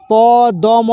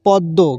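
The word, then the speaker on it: পদ্ম: ম ফলা সংযুক্ত জন্ম প দ ম ফলা সংযুক্ত পদ্য এখানে ম ফলার জন্য দ টাকে ডবল ধরতে হবে মটা ধরা যাবে উচ্চারণ হবে পদ্ব কিন্তু পদম বলা যাবে না।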